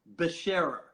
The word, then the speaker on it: Becherer: When I was in Berlin, they made the CH a little soft too, but that side of